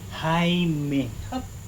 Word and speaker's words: Jaime: Yung J niya, H yun. Jaime.